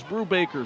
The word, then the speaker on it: Brubacher: And I guess the going pronunciation in Napanee is Brubaker, so we'll go with that for Spencer.